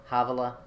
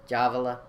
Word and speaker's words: Havilah: And I think that's supposed to be pronounced with a J instead of, or with an H instead of a J. Havilah, Javala, to the isles afar